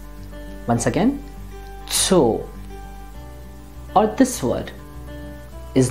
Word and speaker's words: Zoo: o is o now when we have a double vowel the pronunciation is a long o and not as in english for example this word